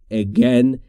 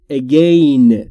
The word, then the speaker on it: again: و کاربردی با لغت اگن در انگلیسی. دوستان همون طور که می‌دونید لغت اگن یعنی دوباره. اگن یعنی دوباره. شاید شما خیلیاتون اگین تلفظ بکنید اما تلفظ درستش به این صورته.